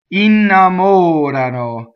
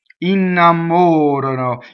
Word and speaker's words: innamorano: So the stressed vowel in this is on the O. Okay, and again, this is third person plural. They do something, right? They are enamored. Innamorano, innamorano. So the accent is on the antepenultimate in that, right? Second to last syllable.